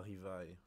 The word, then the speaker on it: Rivaille: Puis j'ai oublié qu'on prononce pas le R. Le R, ça se prononce comme un L si je me trompe pas.